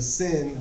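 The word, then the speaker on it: שׂ: as in ship and the sin will be pronounced just as a S as in sin SC open no over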